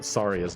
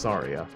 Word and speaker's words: Saria: before with um uh saria's name which I pronounce zarya I mentioned how I had heard someone specifically Pro Jared pronounce uh her name is Saria like the name Maria which frankly makes a